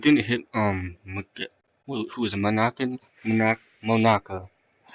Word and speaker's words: Monaka: And it didn't hit who is it, Monaka, that's how you pronounce it, Monaka.